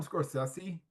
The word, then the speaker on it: Scorsese: Scorsese. Some people call him Scorsese.